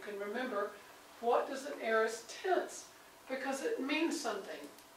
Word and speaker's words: aorist: And this one, that first word, A-O, is pronounced aorist.